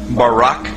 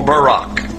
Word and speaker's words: Barak: brightness or a glittering the Hebrew word is Barak so lightning or a flash of light in Hebrew is pronounced Barak or Barack now consider this amazing